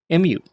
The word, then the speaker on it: mu: Our next letter is the letter mu. M-U, mu. And it makes an M sound.